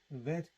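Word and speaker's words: ב: which is that it's a bet without the gas is pronounced a vet or ver sound a vet a giver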